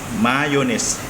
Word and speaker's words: Mayones: Mayonnaise? How do you pronounce the brand? Mayones. Mayones.